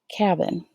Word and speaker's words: cabin: make it short now I'm going to pronounce it cabin cabin I've heard of a